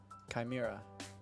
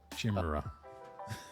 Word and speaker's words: chimera: one shimura era Kai mirror uh Chimera Chimera chimera Kai Mir shimura that's how I pronounce it in my parts of my country